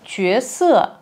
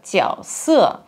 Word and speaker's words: 角色: Она подчеркивает слово «чуэсэ» – «роль». Кстати, китайцы часто произносят это слово «тяосэ», как в слове «угол». Тяо, но в данном случае нормативное произношение этого иероглифа именно чуэ, и дилираба этому следует.